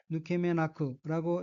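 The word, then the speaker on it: 抜け目なく: 초록색 줄침 부분을 보면 넷째 줄 가운데 어깨는 한자가 한국어로 뺄 발자와 눈목자가 들어있고 일본어로는 누케메나크라고 읽으며 누케메는 빈틈, 허술한 점이란 뜻의 명사이고 누케메나크는 빈틈이 없다는 뜻인 누케메나이의 후형으로 빈틈이 없이 이란 의미입니다.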